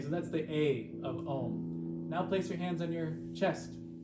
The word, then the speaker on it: Om: We Om'd in the beginning. Om is actually spelled A-U-M with a silent syllable at the end. Om, A-U-M. So the first letter A is an ah sound, not ah, but ah.